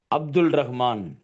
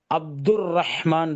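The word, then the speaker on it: عبد الرحمن: ஒலிபெயர்ப்பு அரபில உள்ளதை நம்ம எப்படி சொல்றோமோ அதே போல இங்க இங்கிலீஷ்ல சொல்லணும் அப்படின்னா, அப்துல் ரஹ்மான்ங்கிறது தவறு, 100% தவறு. அப்ப எப்படி தான் பண்ணணும்? அப்துர் ரஹ்மான் தான் வரணும்.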